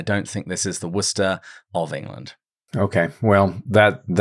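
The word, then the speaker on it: Worchester: Because firstly, it's pronounced Worcester, even in the audiobooks.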